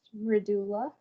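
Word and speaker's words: Mridula: it incorrectly hi hello so how do i pronounce um your name uh it's just redoula okay okay hello hi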